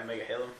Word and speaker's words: Megahalems: Okay, so that concludes our unboxing of the Prolimatech Megahalem, how do you pronounce it? Yeah, Megahalem.